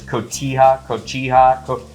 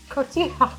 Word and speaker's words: Cotija: We had taco night the other night, so I've got this cotija. You're of Mexican descent. How do you pronounce it? Cotija.